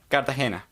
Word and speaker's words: Cartagena: me how the Colombian city of Cartagena is pronounced Cartagena that has been bothering me yeah yeah yeah